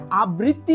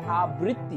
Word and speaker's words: আবৃত্তি: আমরা যখন এটা সঠিক ভাবে উচ্চারণ করতে পারলে বানানটাও সঠিক করে লিখতে পারবো আবৃত্তি যেহেতু বলছি তার মানে আ বয়কারের পরে ত হসন্ত এবং তয় রস ইকার দিয়ে লিখতে হবে আবৃত্তি আমার সাথে উচ্চারণটা প্র্যাকটিস করে নাও একবার থার্ডটা